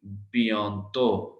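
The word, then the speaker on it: bientôt: b, ben is on, तो टी हमने last pronounce नहीं करना, इट इज बियॉन्तो बियॉन्तो बियॉन्तो, बी I means B, ई N means बियॉ बियॉ तो तो तो बियॉन्तो।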